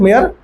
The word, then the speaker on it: Mayr: Page number 3, Ernest मेयर, very important scientist. Page number 3, spelling बोलिएगा तो ER है ना, ER, अर्नेस्ट, MAYR ना।